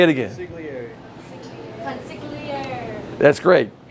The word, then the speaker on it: consigliere: Consigliere. Consigliere. That's great. And by the way, it's not, I know I'm over articulating. It's not consigliere. You know, it's consigliere.